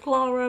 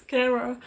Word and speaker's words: Keira: montage by keira smith i have been pronouncing her name wrong because i thought they said clara but it doesn't it's kira so i do apologize